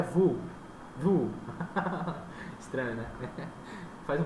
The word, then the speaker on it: Vue: A pronúncia certa desse cara é Vue. Vue. Estranho, né? Faz um biquinho, Vue, né? Vue, se falar Vue para um americano é isso aqui, tá? É Vue, visão.